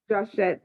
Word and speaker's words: Joshett: This is Empress Joshett. Am I pronouncing it correctly? yep, it's Joshett.